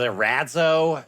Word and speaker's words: Erazo: He pronounces it Erazo, and I don't really agree with that, especially after months of living in Italy.